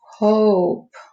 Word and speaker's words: hope: I hear the O and I don't hear the E, so that's a long O. Then I have hope. Hope.